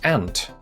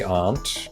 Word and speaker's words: aunt: a necklace I want how do you pronounce ant as in you know yo your auntie some people in the united kingdom would say art i do if i want to sound smart but if i'm rushing